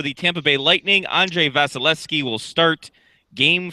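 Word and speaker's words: Vasilevskiy: Vasilevsky. Vasilevsky. It's my name, but with V's.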